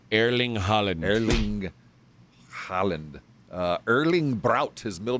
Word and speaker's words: Haaland: H-A-A-L-A-N-D.